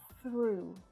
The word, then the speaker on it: threw: Watch out for the unvoiced TH sound here, it's a little tricky when it's next to the R.